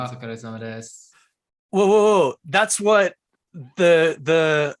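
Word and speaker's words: お疲れさま: Otsukare-sama. Otsukare-sama desu.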